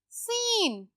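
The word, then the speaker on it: scene: सीन, अगर मैं कहूं कि सी की साउंड नहीं है इसमें, तो वर्ड क्या है, सीन।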